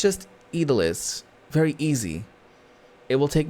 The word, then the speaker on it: idli: I think it's Italy. Hold on. Idli. There you go.